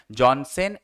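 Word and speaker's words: Janssen: यहाँ पे प्रोनाउंसिएशन है, जॉनसन एंड लॉकियर।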